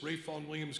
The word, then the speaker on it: Vaughan Williams: you may be wondering who is this Ray Fawn Williams guy and why is everybody pronouncing his name incorrectly based on what we can see up there so if you'll indulge